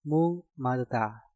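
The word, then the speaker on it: 목마르다: Maka gioknya kalian rubah menjadi suara ngiyeng. Dan untuk kata ini, cara pengucapannya menjadi mung maluta, mung maluta, mung maluta.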